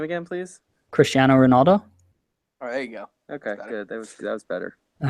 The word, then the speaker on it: Cristiano Ronaldo: how to respond to that what's that you pronounce his name again please Cristiano Ronaldo all right thanks guys he won his fifth